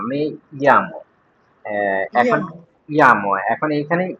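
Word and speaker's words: me llamo: এই যে, এখানে এখানে আমার জি, উচ্চারণটা কি মেয়ামো নাকি মেজামো? মেজামো না, মেয়ামো।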